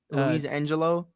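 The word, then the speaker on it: Luisangel: how do you say his name aun's brother Louise Angelo yeah Angelo aunia Angelo aunia because it has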